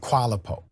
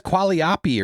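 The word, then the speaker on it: Qualiopi: And Qualapo. Qualo. Let's go to it says Qualiopy or something. He didn't even pronounce that. It's qu iO. He said Qualapo.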